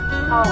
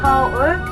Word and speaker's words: Seoul: Seoul. We pronounce Seoul, not Seoul.